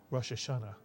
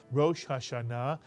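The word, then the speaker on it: ראש השנה: mitan and of course in English we tend to say Rashana but actually in Hebrew it is Rashana and now you know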